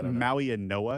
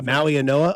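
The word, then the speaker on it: Mauigoa: How do you say that guy's last name? I'm with you. Maui and Noah is how I Maui and Noah.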